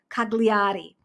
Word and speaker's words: Cagliari: in Italy and that's cagliari um they don't pronounce the G I've never taken Italian